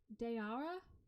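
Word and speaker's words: Daoura: hotel on Darwa daura d-a-o-u-r-a three vowels in a row how do you pronounce that dayara dayara after the cabbie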